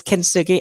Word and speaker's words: Kintsugi: So my so the name of my business is Kintsugi. I'll spell that because it is a bit strange. So Kin and Sugi is Kin and then Tsugi, Kintsugi Healing.